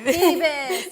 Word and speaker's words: Phoebus: Phoebus, you said it right.